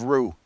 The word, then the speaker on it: roux: video on roux on thickening gravy with roo-roo is spelled ro UX and it is definitely a kitchen staple you have to have rue rue is made with butter and flour or